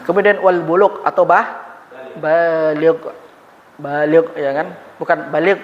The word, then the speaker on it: baligh: Hati-hati Bapak Ibu penggunaannya nanti. Syarat puasa salah satunya baligh. Ah salah kita pengu pengucapan yang bendanya adalah ba baligh. Baligh.